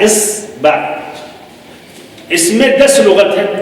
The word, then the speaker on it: إِصْبَع: صحیح اس کا نطق کیا ہے عربی میں؟ جس طرح یہ تشکیل الف پہ کسرہ، صاد پر سکون، با پہ فتحہ، اصبع.